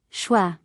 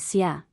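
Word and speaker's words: 血: Example, Shui, blood, can also be pronounced as xia, blood.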